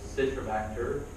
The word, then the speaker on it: Citrobacter: So Citrobacter from DI.